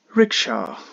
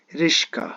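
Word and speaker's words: rickshaw: to the next word rsha one of the vehicles aha often time it is noticed that people call it rishka the Sha here comes first the car goes to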